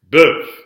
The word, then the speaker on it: bœuf: So here we have an example where that F is silent. We have a closed O on the lips and a closed E on the tongue. But when that F is pronounced, as in there's no pronunciation of the final syllable. When it's pronounced, when there is a pronunciation of the final syllable, bœuf.